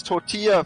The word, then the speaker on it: tortilla: In Spanish, double L is pronounced as in English Y.